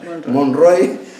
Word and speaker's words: Monroy: Hay un historiador cubano, Juan Sánchez no sé si es Monroe o Monroy, sí, debo pronunciar, Monroy, analiza la política exterior del nuevo poder soviético entre el 17 y el 22.